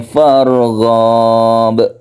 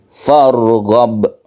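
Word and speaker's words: فارغب: Wa ila rabbika farghab. Ini pendek ya. Kadang-kadang kita temui farghab, padahal ini pendek. Yang betul farghab, pendek saja.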